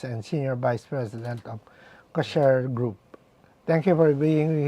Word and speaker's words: Ksher: First of all, did we pronounce the name of the company correctly? Ksher. It's Ksher. Ksher. Ksher. Yeah, the name Ksher came combination between cashier, Cashier.